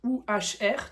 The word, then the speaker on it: Uhr: Donc U H R. Donc il y a le H qui prolonge la voyelle. Donc c'est bien dit "Uhr" avec un U assez long et un R qui prononce presque comme un A, hein.